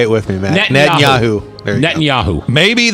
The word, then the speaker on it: Netanyahu: Then why is the only person who met the man is the only one who cannot pronounce his name? Yeah, right. That's true. Netanyahu. Say it with me, Matt. Netanyahu.